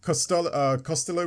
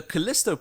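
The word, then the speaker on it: Callisto: You got Costello Protocol which I don't can't actually remember the music for that. Can you? Was that correct? Yeah. The Kalisto Protocol.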